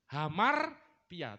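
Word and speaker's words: ἁμαρτία: Hamartia. Cuman tulisannya A, depannya alfa ya. Cuman kalau huruf hidup itu pakai H bacanya. Kayak Hono Coroko itu loh, mirip ya. Hono Coroko itu kan A. Jadi hamartia.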